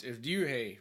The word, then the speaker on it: Ryuhei: How do you pronounce his name again? It's Ryuhei, but so you can say Ryuhei.